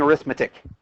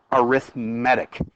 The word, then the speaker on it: arithmetic: And notice I'm not saying arithmetic. The correct way to say this is arithmetic.